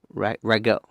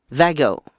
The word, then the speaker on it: Zago: What it basically is AA4K, if I'm correct, Natalie, is Brian Stevens and Stephen, say his name right, Rago? I thought it began with a Z. Zago.